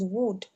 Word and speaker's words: would: It's yes, the pronunciation of the L is very thin, so it's would.